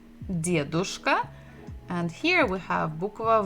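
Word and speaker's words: дедушка: We have de, d, dedushka, and here we have bukva v, девушка. And the stress is also the same syllable, the first.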